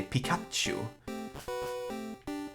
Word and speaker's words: Pikachu: in Swedish because here you don't say 'pete Pikachu or whatever here is a Pikachu you stress that second syllable don't this pokemon down